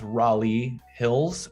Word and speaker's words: Raleigh Hills: say that like raleigh so just know that it's raleigh hills um i i have